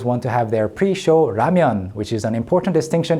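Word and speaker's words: 라면: So I was very happy to hear this pronounced correctly like this in this scene. ramen, ramen, ramen, ramen.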